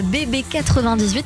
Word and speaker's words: Bébé 98: J, votre nouveau single issu de votre album Bébé 98. C'est bien comme ça que ça se prononce ?